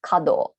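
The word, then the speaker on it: 華道: the top calligraphy it's written here and it's pronounced shodo flower arrangement is kado tea ceremony is sado and even if you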